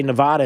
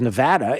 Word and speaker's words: Nevada: uh noticed this that i say nevada instead of nevada is because i don't